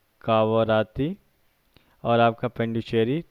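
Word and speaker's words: Puducherry: आपका ये आ जाता है पांडिचेरी, पुडुचेरी जिसको बोलते हैं, पुडुचेरी असली प्रोनाउंसिएशन, जिसको पांडिचेरी इसकी कैपिटल हो जाती है।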